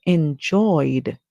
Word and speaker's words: enjoyed: ed sound when we add the Ed we would hear the sound D for the Ed because we can hear the oi sound at the end the ed sound would be D always remember once you